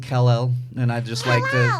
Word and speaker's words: Kal-El: take him to the vet to hear people pronounce his full name which is kal-el because I'd always get its Carroll so yeah that's real name is Adelaide Rhys